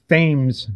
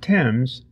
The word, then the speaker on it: Thames: Like, there's the street that runs along the waterfront in Newport, Rhode Island, is called Thames Street, not Thames. Thames.